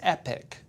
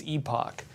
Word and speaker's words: epoch: Epoch epoch is the sophisticated queen's English. So, if you're Canadian or British, it's epoch.